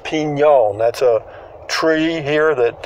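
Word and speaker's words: Piñon: Pinon, it's pronounced Pinon.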